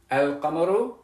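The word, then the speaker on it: القمر: Because you'll know that sukoon means that I do pronounce the lam, al-qamaru, and you'll know that that shadda means that I don't pronounce the lam, ash-shamsu.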